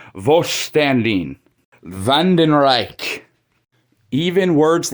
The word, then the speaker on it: Wandenreich: Even the way they pronounce the Vandenreich in general, the Wandenreich, like, I hate it. They don't put much of a, like I said, a German accent in it whatsoever. Like, it should be pronounced the Vandenreich.